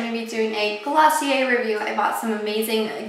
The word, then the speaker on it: Glossier: It is Glossier, very French.